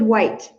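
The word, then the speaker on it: Whyte: and um just just the Divine and David White that man it's spelled w-h-y-t-e he's Welsh so to listen to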